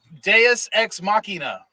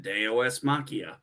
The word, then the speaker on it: deus ex machina: were at aos machia deus ex machina so i said day os machia no you're not saying it right and you're you're irking my latin it's just a dss